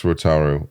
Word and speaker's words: Rotaru: I am here interviewing Alex Rotaru. Is that the proper way to pronounce it? You nailed it. I did. Absolutely. The accent is on the A.